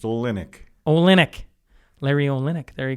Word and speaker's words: Olynyk: It is August 16th, 2020, and I'm sitting across from Larry Olynyk. Did I say that right? Close. You got the accent on the wrong syllable. It's Olynyk.